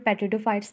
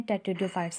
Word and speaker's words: Pteridophytes: ये वर्ड पेट्रिडियोफाइट्स नहीं है, टेट्रिडियोफाइट्स इसकी प्रोनाउंसिएशन।